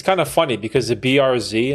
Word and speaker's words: Bearz: funny because the BRZ that's how you say my last name BRZ or be Z BRZ or or if I spell it b e a r z for you Americans or zedi it's phonetically it's BR r z i I'd buy a